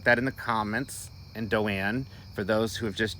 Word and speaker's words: Doane: and i'll put that in the comments and doane for those who have just joined d-o-a-n but it's pronounced doan and i just want to say